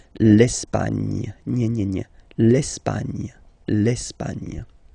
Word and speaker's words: l'Espagne: Okay, don't insist on the final E because basically it's not pronounced. L'Espagne.